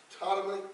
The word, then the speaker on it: Ptolemy: The two kings, the first king of the south, it was Ptolemy, Ptolemy. That's how you say that.